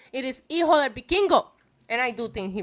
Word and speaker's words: Hijo del Vikingo: Please, Hijo, do not pronounce the H. It is not Hijo del Vikingo. It is Hijo del Vikingo.